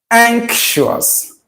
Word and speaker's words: anxious: So you have that consonant sound there. Ank, ank, ank. All right, guys, we are done with this. Frank Donatis, wow, I didn't know that anxious has NK sound. Yeah, it does. It does.